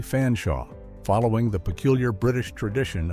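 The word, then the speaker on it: Featherstonehaugh: confused American audiences that it was actually pronounced Chumley Fanshawe, following the peculiar British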